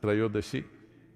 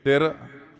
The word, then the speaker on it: Trayodashi: It is Dhanavantari's Trayodashi. North Indian people must connect, don't go on clipping away one syllable and come Dhanavantari becomes Dhan, Trayodashi becomes Tera.